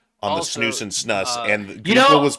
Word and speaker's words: snus: I'm just gonna say snus. Snus. Snooze. So somebody Is it else snus said that or it was snooze. Snooze. It is snooze.